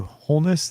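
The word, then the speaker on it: Holness: so absurd and from what i understand matthew wholeness that's how his name is pronounced wholeness yes matthew wholeness on the left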